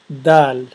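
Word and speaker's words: دال: of the alphabet um let's start with D D or dou a Dal um that's the name of the letter and it's pronounced as the and for you to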